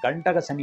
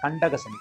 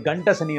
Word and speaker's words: கண்டக சனி: இடத்திலே கண்டக சனியாக வருகிறார் நிறைய பேர் அதை உச்சரிக்கிறது கண்டக சனி என்று கூறலாம் கண்டக சனி என்ற அல்ல கண்டக சனி கண்டக சனி என்றால் கண்டவர்கள் கண்படுகின்ற சனிதான் கண்டக சனி அது கண்ட சனி அல்ல கண்டம் ஏற்படுத்தாது கண்டம் என்றெல்லாம்